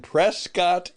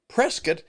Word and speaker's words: Prescott: to be in and he mispronounced it. He said he was going to be in Prescott, Arizona. Well, I'm glad he's coming. And again, Prescat is a really wonderful